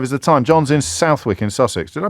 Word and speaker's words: Southwick: John's in Southwick in Sussex. Did I pronounce that correctly?